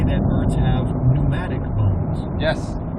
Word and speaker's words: pneumatic: say that birds have pneumatic bones. Yes. There's a silent P in it.